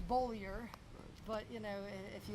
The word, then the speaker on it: Beaulieu: learn Who I am it takes them a couple of months to actually pronounce my name correctly it's bolier but you know if